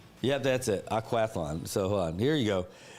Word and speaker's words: Aquathlon: How do you pronounce that? Aquaflon.